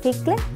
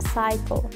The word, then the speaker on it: cycle: Y luego también en la última palabra, cycle, no digo cicle, sino que diremos cycle.